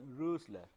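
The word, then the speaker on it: Rössler: the Rosler equation uh this is O with a uml it's a German thing with pronunciation rler you'll make the the the lips as if you are trying to speak o but you will actually try to speak a so whatever comes out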